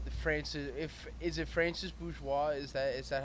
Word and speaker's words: Francis Bourgeois: guy uh the the francis if is it francis bourgeois is that is that how you say his